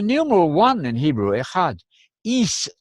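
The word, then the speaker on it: εἷς: Is, I'm using the modern Greek pronunciation. They do that at Harvard, too.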